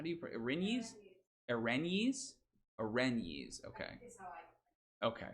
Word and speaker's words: erinyes: Erinyes? Erinyes. Okay. Okay, my wife says erinyes, and she's a classics major, so we're gonna trust her on that.